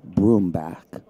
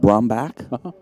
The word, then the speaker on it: Brumback: don't say there is you prefer the broom back instead of brown back yes i spelt like it's i i say it like it's b-r-o-o-m is that what you're